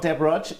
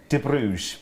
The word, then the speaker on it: De Bruges: Okay, she's not Deb Rudge. She's the amazing De Bruges.